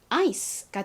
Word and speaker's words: ice: 가장 앞에 있는 I는요, 여기서 I로 쓰였어요. I. 다음은 C인데요. C는 쌍시옷 혹은 키읔 발음이 난다 라고 말씀드렸었죠. 여기서는 쌍시옷 발음이 납니다. 그런데 이 C가 지금 단어의 끝부분에 오다 보니까 소리가 좀 약해져요. 그래서 좀 약하게 S처럼 발음이 납니다. 그리고 가장 끝에 E는 별다른 소리가 나지 않아요. 자, 그럼 이 단어를 읽어보면 ice가 되죠. ice.